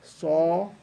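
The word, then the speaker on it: ص: smile by the way this one is a saab saw it's kind of like saw when he's sawing a wood piece of wood sawing kind of like that song so your mouth is wide open round oh so very good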